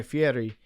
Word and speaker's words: Fieri: cool, but like Guy Fieri, they reached a point where it's like. What? Guy Eminem. Fieri, that's how you pronounce.